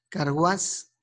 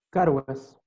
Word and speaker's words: Carguas: Carguás. Presente, profesor. ¿Es Carguás o Carguas? Carguas. Es con acento en la A. Ah, no, sin acento, sin acento. Sin acento, Carguas, ya.